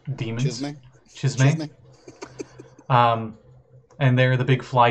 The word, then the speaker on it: Chasme: I can never pronounce their name right, but they are called Chasme. Chasm? I don't know. It's Chasm with an E at the end. Demons. Chasme.